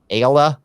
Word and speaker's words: Ayala: And then a week or two after that, I'm going to be on with Ayla. It's spelled Ayala.